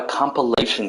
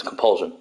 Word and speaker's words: Compulsion: What games were made by Compilation Games? Or, I said it wrong, it's Compulsion.